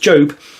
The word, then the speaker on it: Job: And this is quite an exciting day because this may be the first time I've pronounced something from the Old Testament correctly because Job is spelled Job. So, I'm feeling quite pleased with myself. I knew it was pronounced Job.